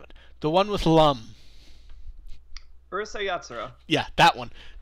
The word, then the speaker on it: Urusei Yatsura: I didn't completely pronounce that correct. So Urusei Yatsura.